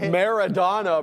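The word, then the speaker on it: Maradona: Madonna. Yeah. Yeah. Madonna. Madonna. How do you say Maradonna, bro?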